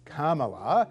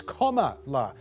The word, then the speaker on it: Kamala: it's not coma la it is karma uh so just it's like um you know we call it craigslist here but in the us they call it craigslist gotcha and there's old colin powell and the whole kofi annan thing and everything let's go so ignore the commodore things a lot of people on twitter were going no she said it's comma no carmilla okay all right